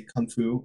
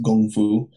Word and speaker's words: kung fu: Like, whatever they're doing, like, let's say kung fu, or I think it's pronounced gong fu.